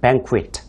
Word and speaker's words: banquet: Q 발음이 있기 때문에 우리가 입을 조금 내미셔야 돼요. 그래서 a wedding banquet 그렇게 하셔야 되겠고요.